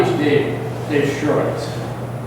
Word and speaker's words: Schoorens: have trouble pronouncing it say the word insurance now drop the i in that's what I used